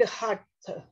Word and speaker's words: Hatha: First of all, this word Hatha. This is a Sanskrit word. Two syllables, ha and tha.